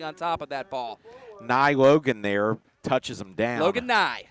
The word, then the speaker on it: Neu: has called him logan new all year long but i believe it is actually pronounced ni neu you grew up watching bill nye the science guy that's right he had